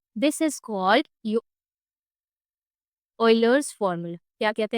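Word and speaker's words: Euler: This is called ऑयलर्स formula. क्या कहते हैं इसे बच्चों? ऑइलर्स formula. It is written as यूलर बट इट is pronounced as ऑयलर।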